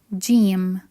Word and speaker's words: ج: within a word so the first letter is Jim the pronunciation basically same as the J sound in English so it's j j j next one is ha